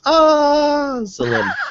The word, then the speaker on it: Azalin: When I said it the first time, she said that's exactly how to pronounce it. And her name is Azalin.